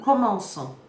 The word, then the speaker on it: commençons: Here, the C risks hardening into a K sound disrupting the flow of the verb. So French makes a precise alteration. Nous commençons. A small hook beneath the C and the sound is restored.